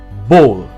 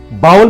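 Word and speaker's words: bowl: बोल। आप सूप पीते हैं बोल में, बोल, बाउल में नहीं। इस शब्द का सही उच्चारण है बोल, लाइक अ हिंदी वर्ड बोल, बोल।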